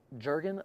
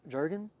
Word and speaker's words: Jurgen: u r g n how you think you pronounce that Jurgen like the lotion J Jurgen right okay Brazil what's up